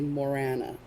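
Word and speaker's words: Morrígan: looks like Morrigan, and even, like, people say it's Morrigan, but then I've seen, like, where Irish people are like, no, the G is silent.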